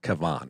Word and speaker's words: Kevin: right i said uh he goes kevin i said it's kevan actually and he laughed you